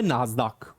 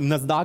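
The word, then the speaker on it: NASDAQ: इसमें NYSE के बाद यूएसए की दूसरी है जिसका नाम है नास्डाक, और नस्दाक भी बोलते हैं, अलग अलग इसकी प्रोनाउंसिएशन है, national association of securities dealers automated quotation stock exchange.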